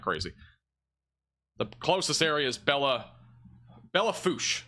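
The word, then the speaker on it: Belle Fourche: The closest area is Bella Fouche. Oh, there we go. Bella Fouche. I was trying to say it like French. Bella Fourche.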